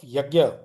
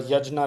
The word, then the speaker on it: yajna: So, that idea of yagna uh yajna rather, proper pronunciation, that the Gita synthesizes